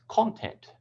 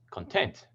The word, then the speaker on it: content: website or a magazine if you put the primary stress on the second syllable it becomes content which means to be happy or satisfied so the position of